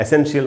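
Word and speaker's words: essential: एन टी आई एल इसको अक्सर हम लोग एसेंशियल ऐसे करके बोलते हैं। एसेंशियल माने आवश्यक या जरूरी इसका जो सही उच्चारण है ट्रांसक्रिप्शन के हिसाब से उस उसके हिसाब से इसको पढ़ेंगे। एसेंशियल एसेंशियल इसको एसेंशियल बिल्कुल नहीं बोलना चाहिए।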